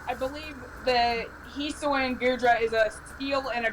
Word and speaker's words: Goodra: likes a lot i'm not sure if i pronounce this right but gudra is his favorite dragon type i'm not sure if i pronounce that right okay is it hoopa goodra oh goodra yeah guru drum's actually a great dragon type